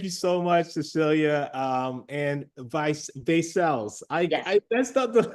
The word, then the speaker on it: Vaicels: just gonna let you not Vaicels, it's Vaicels. I'm just gonna let you know. And that's the whole idea of this whole thing. Oh, yeah. Did I say it correctly? Just to make sure. It's Vaicels, yeah. Vaicels. Oh, you'd be surprised. I don't know how people come. It's Vaicels, and people call us Versailles.